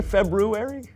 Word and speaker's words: February: I know there's an R there, but most people don't pronounce it. Oh, well, most people are wrong. Yeah, you pronounce the R because in February you always make a good roux. Actually, the extra R comes from the original Roman calendar when it was called Februarius. But most people don't pronounce the first R because it produces a cluster of consonants that isn't commonly used in modern English.